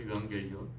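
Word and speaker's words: εὐαγγέλιον: 복음은 헬라어로 유앙겔리온이라고 이렇게 발음합니다. 어려운 말이죠. 유앙겔리온.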